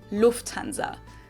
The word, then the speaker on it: Lufthansa: But in German, we say Lufthansa. So the emphasis is on the first syllable, Lufthansa versus Lufthansa.